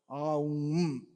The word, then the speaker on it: Om: Oh, actually, it's three syllables. Oh, Om.